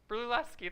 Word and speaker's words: Brunelleschi: Filippo Brunelleschi, something like that. But Brunelleschi, thank you.